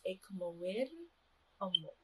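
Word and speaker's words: Ekamowir omo: begin out with is ikamoir omo, or greetings in the Nauruan language. In the Nauruan language, we roll our R's. So the correct pronunciation or the correct way to say it is ikamoir omo.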